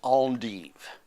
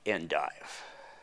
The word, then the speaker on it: endive: which means white leaf it should be pronounced on deep not endive urine smells funny after